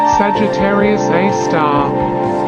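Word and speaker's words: Sagittarius A*: Milky Way is called Sagittarius A asterisk pronounced Sagittarius A star it is a supermassive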